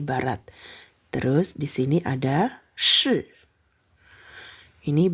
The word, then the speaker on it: 是: Terus di sini ada shi. Ini bacanya shi ya.